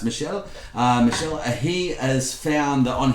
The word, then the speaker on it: Michel: We are finding, thanks to Michel in France, Paris, that's a male, that's how you pronounce Michel.